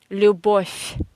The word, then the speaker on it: Любовь: So V in the end of any Russian word you pronounce as F. Любовь.